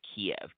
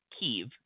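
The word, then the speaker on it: Kyiv: here today um so traditionally speaking we as historians have talked about kiev k iev right the ukrainians have tried to encourage the pronunciation of keev Ky i v um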